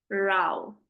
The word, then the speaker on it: row: Now this I told you, what is the pronunciation of this word which has been used in the passage? It is row, okay?